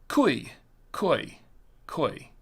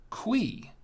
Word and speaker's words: Cuy: Trader Joe's of course I thought it was ki ki ki that's what I thought it was but when I looked it up and did some research on the wine it's actually pronounced quei qu it's que which actually makes sense but